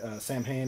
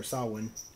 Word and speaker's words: Samhain: bass guitar for uh samhain or sawwin whichever however you pronounce it i say it both ways uh with glenn danzig